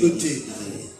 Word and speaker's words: et: quand on dit, on écrit ET. Et. Non, mais pas le le T, T. ça se prononce pas mal. Voilà, on ne prononce pas le T.